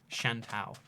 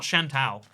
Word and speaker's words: Chantal: It's pronounced Chantal. It's not Chantal. Chantal, right? No, it's Tal.